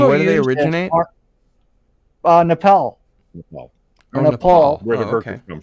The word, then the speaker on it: Nepal: It's Nepal.